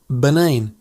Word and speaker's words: Banane: The pronunciation is very similar. Just stretch that A sound a little. Banane.